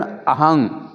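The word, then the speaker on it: ahaṃ: अह करके शब्द नहीं, अह कहा तो उसका अर्थ अलग है।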